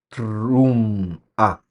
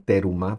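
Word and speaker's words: תרומה: trum algunas personas dicen teruma pero la pronunciación correcta es truma casi con una e inexistente ahí cuando está antecedida entonces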